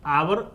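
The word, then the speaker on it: hour: तो यानी कि एच साइलेंट है। यहां उच्चारण एच साइलेंट है तो ओ ओ हो ओ का उच्चारण हो रहा है।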